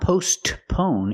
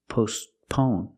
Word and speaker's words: postpone: You don't hear it because it's between consonants. It's not postpone, it's postpone. Your tongue goes up a little bit and makes a stop T, but you don't really hear it. Postpone, postpone. It's like it's silent.